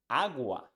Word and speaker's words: agua: English like father father this same sound is in words in Spanish like agua agua is the same sound father and agua let's see the second